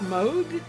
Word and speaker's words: Moog: It's pronounced Moog? That's how I heard all my friends pronounce it. So I assume so, unless they trick me. It's actually Moog, like the music keyboard brand.